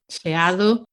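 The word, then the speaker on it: xeado: in Galan yeah and Shi is Shi is ice cream ice cream like gelato sh sh so that starts with the letter X so I know you all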